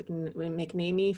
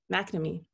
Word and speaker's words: McNamee: for the partnership um or mcnamee apologies if i haven't pronounced your name correctly mcnamee okay there you go more knowledge shared and